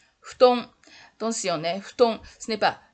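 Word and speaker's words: 布団: Il n'y a pas de prononciation F en japonais.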